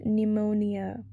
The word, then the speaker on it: pneumonia: comb it is B silent letter in the word pneumonia P the federal government sometime